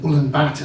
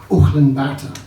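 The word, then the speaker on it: Ulaanbaatar: what happened when I did change trains in anen Bata that's how we pronounce it here but it's actually pronounced Olan Bata and I was on the trans Mongolian Express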